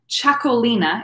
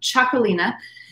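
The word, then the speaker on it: Txakolina: you see right on the top t-x-a k-o-l-i-n-a chocolina is how it's pronounced like chocolate um chocolina and wine from this area is called chocolate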